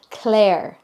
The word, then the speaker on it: Clare: So many people are asking me why I don't pronounce the I S in Clisare. It's because I'm saying Clare, my real name.